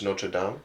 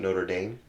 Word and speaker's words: Notre Dame: It's Notre Dame, not Notre Dame. So whoever says Notre Dame, you're wrong. It's Notre Dame. Had an argument with that with somebody, and they're like, "It's Notre Dame."